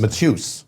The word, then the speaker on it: Mateus: It's Mateus. Because you know in America, you know what they say in America? What do they say? Mateus.